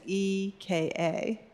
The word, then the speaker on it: Eka: So Eka is E-K-A, but it's pronounced Eka.